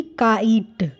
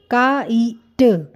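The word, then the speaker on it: kite: ही बोलेंगे यानी कि काइट काइट यहां पर लेटर का नाम क्या है आई सो यह बन जाएगा काइट जो यह ई है इसकी साउंड हम नहीं बोलेंगे यह साइलेंट ही रहेगी सेम वे अब बच्चा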